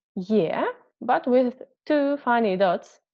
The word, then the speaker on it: Е: We pronounce it like ye. Be careful because we have here two sounds. First is y and second is e. Ye, ye, ye.